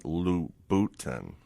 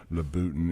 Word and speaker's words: Lutin: lindsy Beckham texts me the way you pronounce it is Christian lutin just want to make sure right I just wanted to get it right letin anyway letin thank you Lindsay thanks ly